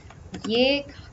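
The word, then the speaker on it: यह: Ye is written in the script as yah, pronounced as ye.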